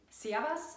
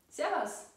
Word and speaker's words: Servus: What you've probably heard before is the famous "Servus", but we pronounce it like "Servas". This is a popular form of greeting among groups of friends, for example. “Servas”, “Servas” “Griaß di”.